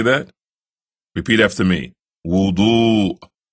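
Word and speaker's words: وضوء: This, as we mentioned earlier in the CD, is called wudu. Can you say that? Repeat after me. Wudu.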